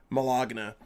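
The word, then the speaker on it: Melogna: go over uh because i think you said that maloney pronounced like baloney um her name is literally like m-e-l-o-g-n-a malogna melodna malogna um it's one of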